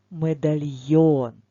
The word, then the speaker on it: медальйон: О так буквосполуч там де є буквосполучення йо завжди наголос буде на о запам'ятаємо цю хитрість так медальйон прикраса для шиї прикраса для ланцюжка запишемо медальйон І запам'ятаємо що це таке і обов'язково поставимо наголос тож став відео на